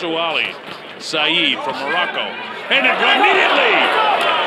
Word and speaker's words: Ouali: on the southpaw huali spelled q-u-a-l-i pronounced wali saeed from morocco and